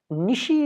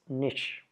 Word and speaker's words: niche: Nishi is not there, it's niche.